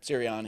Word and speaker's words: Sirianni: Is that how you pronounce it? Sirianni.